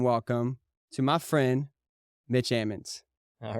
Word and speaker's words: Ammons: Hammonds without the age okay so it is pronounced Hammonds though like Ammons almonds okay okay cool what's up man yeah